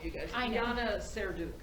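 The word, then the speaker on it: Serdyuk: Yana Serduk.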